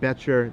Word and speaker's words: Boettcher: It's Boettcher. The O is silent.